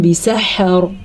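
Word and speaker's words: بِسَحَرٍ: پہ پڑھیں گے نجیناہم بسحر۔ ہا کے تلفظ کا دھیان رکھنا ہے، با کو قطعاً لمبا نہیں کرنا کیونکہ با کے نیچے زیر ہے، اور نہ تو سین کو لمبا کرنا ہے۔ کیسے؟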